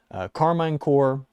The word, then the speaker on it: Karmine Corp: If you say Karmine Corp, fair play. Go for it. I say Core because it's like Peace Corps, Karmine Corp. It rolls off the tongue better.